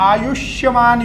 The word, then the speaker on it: आयुष्यमान: योग तीसरा योग है आयुष्यमान योग आयुष्यमान योग आयुष योग नहीं बहुत लोग आयुष योग कहते हैं इसको आयुष्यमान योग सौभाग्य योग उसके बाद